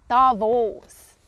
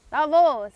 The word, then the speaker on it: Davos: okay not bad not bad okay I say Davos Davos it's really cool I have been skiing there